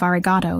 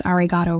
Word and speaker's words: arigato: I did pronounce arigato wrong. The final O was too short, too clipped.